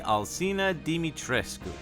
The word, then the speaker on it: Alcina Dimitrescu: this one to bed the proper way to say miss mommy crush me's name is lady alcina dimitrescu and for the japanese